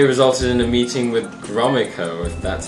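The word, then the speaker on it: Gromyko: the following day resulted in a meeting with gromaco that's how you say it talking about Cuba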